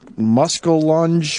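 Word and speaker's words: muskellunge: me he said uh I think it's uh pronounced muscul lunge we'll take your arm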